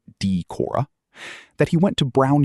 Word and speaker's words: Decorah: near the Minnesota border, which explains his long vowels. Sand pronounces it Decorah.